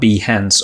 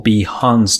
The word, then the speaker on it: Behance: So first, let's talk about Behance or Behance depending on how you prefer to pronounce it.